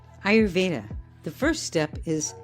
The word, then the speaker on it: Ayurveda: ayurveda the first step is how to pronounce it the way I teach it is you say ey e i y o u r your vaa I your vaa in the aaic science the fundamental elements of